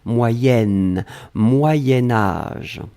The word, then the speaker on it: moyen âge: alors moyens moyens4 sion quand on va le blier avec âge on va faire ce petit modification de prononciation on va dire moyenne moyen-âge d'un c'est pour ça que vous avez peut-être entendu moyenne mais en fait on écrit moyen moyen âge va être prononcée moyen-âge d'accord allez ce troisième chose